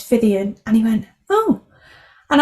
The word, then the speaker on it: Phythian: It's Phythian.